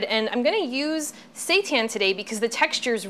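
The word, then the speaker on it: seitan: be made out of Satan now Satan let me just explain what that is first of all it's spelled s e t an I know it sounds like something else but it's actually wheat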